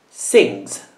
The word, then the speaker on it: sings: La G è un suono dolce, quindi la S si pronuncia come una Z. Sings.